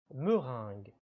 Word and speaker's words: meringue: des gâteaux il s'agit bien sûr de la meringue la meringue attention à la prononciation nasale du son 1 me rinck morin